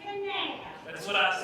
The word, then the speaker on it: Kanab: It's Kanab.